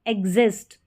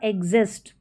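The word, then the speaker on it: exist: एक्स को आधा ग और ज भी पढ़ते हैं।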